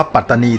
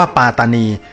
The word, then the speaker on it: ปัตตานี: ต้อง ออก เสียง ว่า ปาตานี ซึ่ง เป็น ความ เข้า ใจ ที่ ผิด ครับ คำ นี้ ไม่ ได้ ออก เสียง ว่า ปาตานี นะ ครับ ต้อง ไม่ ลืม นะ